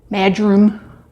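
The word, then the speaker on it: marjoram: sage rosemary and what else is in here Maj room that's how it's pronounced thyme savory bah bah bah that's good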